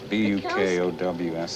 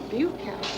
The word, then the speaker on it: Bukowski: Bukowski. B-U? Buke to rhyme with puke, yeah. Bukowski.